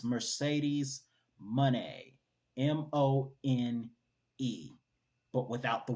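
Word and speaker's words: Mercedes Moné: one Speaking of Sasha money that's how you pronounce it it's Mercedes money m-o-n-e but without the Y wow interesting at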